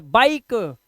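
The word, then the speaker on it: bike: बाई फिर क बाईक और लास्ट का य हम पढ़ते नहीं है तो ये हो गया बाइक इसे फाइन नाइस निश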